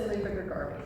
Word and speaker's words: Luba Grigorovitch: So Luba Grigorovitch.